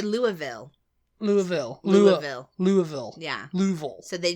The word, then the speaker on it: Louisville: Louisville, Kentucky. Yeah. Louisville, Kentucky. I think there's some... It's Louisville, Kentucky. Louisville. Although, yeah, because I mean... people say Louisville.